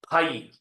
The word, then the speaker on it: phi: Bracket में इसका pronunciation लिख लो PHI, फाई।